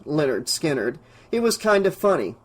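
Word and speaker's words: Lynyrd Skynyrd: She picked up the case of the eighttrack tape that read Leonard Skinnard, pronounced Leonard Skinnard.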